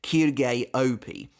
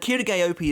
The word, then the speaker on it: Quilge Opie: And I think that's how you pronounce his name. Honestly, I've never been too sure. It was a lot easier way back in the day when it just looked like it was pronounced as Quilge.